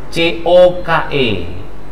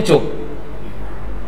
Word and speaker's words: Coke: Semuanya cuk. Tahu kan bendanya kan? Barangnya tahu ya. Sering TV itu kan, film-film. Cuk cuk cuki cuki. Bacanya ini sering terkecoh. Jangan cuk. Yang tadi yang pertama yang benar.